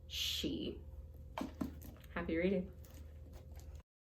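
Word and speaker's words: sidhe: word s-i-d-h-e which means fairy and irish is pronounced she happy reading you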